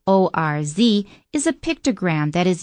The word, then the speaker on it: orz: you and that ores which is pronounced o r z is a pictogram that